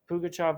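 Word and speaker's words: Pugachev: examples of rebellions that occurred pukachov's rebellion which is spelled p-u-g a-c-h-e-v that's p-u-g a-c-h-e-v pugachav rebellion which was from 1773 to 75.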